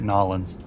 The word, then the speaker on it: New Orleans: I think or as they say at Nolans. Nolans? Yep. New Orleans? If you pronounce every syllable, you're not from there. You're just doing it wrong.